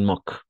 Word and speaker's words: moquent: Ils s'en moquent. Moque, d'accord? Porque las E al final no se pronuncia, entonces, oui.